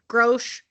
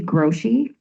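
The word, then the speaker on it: Grosche: I'm going to call Miss uh Grosch uh to the witness stand, so feel free to exceed the scope of my direct when you do your cross.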